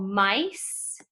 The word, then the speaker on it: mice: So the first poem is about germs, and then the second poem is called mice. And inside of that word, there's a soft C right there that says an S sound, mice.